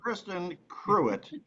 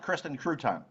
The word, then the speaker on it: Kristen Cruitt: Kristen Cruitt. Is that how it's pronounced? Yeah. It's not Kristen Crouton. No. No, not Kristen Cruick.